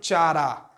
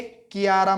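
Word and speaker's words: Chara: उसके बाद है चारा, चारा या कारा भी बोल सकते हो, प्रोनाउंस आप कुछ भी करो, स्पेलिंग वही लिखो, चारा या कारा। ओके, कियारा मत बोलना।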